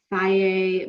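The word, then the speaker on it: Fage: So, you know, Faye makes one, it's spelled F-A-G-E. Took me maybe 5 years to learn how to pronounce that.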